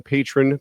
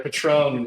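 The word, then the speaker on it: Patrón: You know, to be fair, Patron is spelled patron, but it has that accent mark that tells you how to say it.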